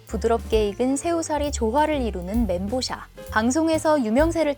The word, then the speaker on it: 멘보샤: 멘보샤라는 이름은 중국어로 빵, 面包, 그리고 새우, 샤를 합친 말인데 面包 샤를 엉터리로 읽은 발음이지만 이미 사람들에게 오랫동안 이렇게 불려서 그냥 멘보샤로 굳어지게 됐습니다.